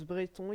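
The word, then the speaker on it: Bretons: minutes les Brétons oui parce que ça se prononce Bréon il y a un accent sur le il y a un accent sur le E outre la grande maîtrise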